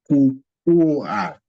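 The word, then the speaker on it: kuua: But the first syllable here is ku. Then the second syllable is UA. Ku-ua. Ku-ua. Ku-ua means to kill.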